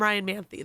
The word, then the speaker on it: Ryan Manthey: y if you see them out call him Ryan manthy though that would be that would be the correct pronunciation but it's easier to spell the other